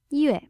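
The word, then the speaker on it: 月: This logograph means moon, which happens to be pronounced yue.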